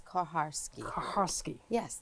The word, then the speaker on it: Kucharski: The CH is supposed to make the sound. Okay. Yes. Right. So instead of Kucharski, because it is Kuch, but the CH it's silent. It's Kucharski. Kucharski.